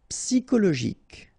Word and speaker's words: psychologique: Psychologique. Okay, remember it's an exception here because you've got this C-H-O. Normally we should pronounce it sho, okay, but in that case we pronounce it ko.